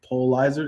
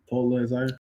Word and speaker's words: Pulitzer: Polizer, that's how you say it? Pulitzer. Huh? Pulitzer. I think there's only one person. Isn't a T in there?